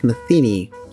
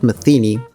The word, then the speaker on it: Metheny: members of the audience, many Hispanics call Pat Metheny actually Pat Metheny. That's how most Argentinian people call him. I realized that that Americans say Pat Metheny after speaking with a lot of people from abroad and learning that, but yeah, it's quite a different pronunciation, and that happens with a lot of names.